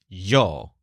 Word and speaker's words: yo: He often pronounces it with a slight y, as in Yo, and that makes it almost sound like Joel.